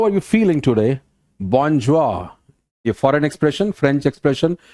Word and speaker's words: bonjour: Bonjour. A foreign expression, French expression, bonjour. Pronunciation is bonjour.